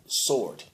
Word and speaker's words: sword: the so-called white man why is there W in the word sword all right you talk to sound out words but then all of a sudden this one is silent see his language is